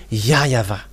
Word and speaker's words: YAHVAH: In Eastern part, the W for them, they pronounce it as V or B.